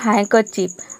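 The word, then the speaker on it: handkerchief: Next है हैंकरचीफ। अब इसमें देखिए हैंकर, यानी कि जो र आ रहा है, इसको र प्रोनाउंस नहीं करना है, यानी कि इसको साइलेंट रखना है, इसको बोलना है हैंकर चीफ। यहाँ पे डी साइलेंट है और इसमें बीच में जो आर है वो भी साइलेंट है।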